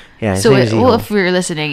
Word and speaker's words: Ziho: His name's Ziho. Yeah, Ziho.